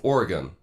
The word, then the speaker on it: Oregon: of that thing yeah did you use a knife or a gun just remember that phrase and you'll always get the pronunciation of Oregon correct anyway that's my thoughts